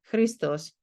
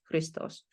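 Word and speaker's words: Христос: In chant manuscripts, it may be written out entirely, but as you can see here, for instance, Christos, and you're supposed to know this is two syllables, Christos.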